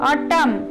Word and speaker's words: autumn: The letter N is silent in the final Amen. Autumn.